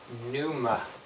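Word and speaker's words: πνεῦμα: this word in Greek it looks like this Numa it's pronounced we get pneumonia from that word uh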